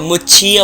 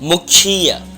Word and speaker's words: मुक्षीय: अब यहाँ पर बहुत सारे लोग होते हैं वो मुच्छीय बोलते हैं, यहाँ पर का उच्चारण होता है मुक्षीय।